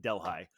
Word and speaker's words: Delhi: neighboring margaretville or delhigh it looks like Delhi but the the locals pronounce it delh High um and uh and